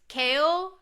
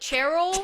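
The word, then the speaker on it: Chaol: But the Throne of Glass series, Kale, it's spelled C H A O L. Do you know how I pronounced it until Kingdom of Ash? Like Cheryl. Cher. Cheryl. I put an R in there. I would call him Chair.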